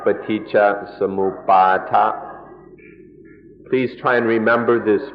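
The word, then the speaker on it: paṭicca samuppāda: The word is paticca samuppada. Paticca samuppada. In Thai, the pronunciation is a little shorter, paticca samuppada. But in the Pali, it's more like paticca samuppada.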